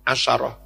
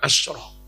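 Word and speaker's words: عشرة: asarud darahim ya gitu ya asaroh bukan asroh kalau jadi adat murakab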